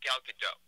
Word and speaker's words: Gal Gadot: I believe it's pronounced Gal Gadot.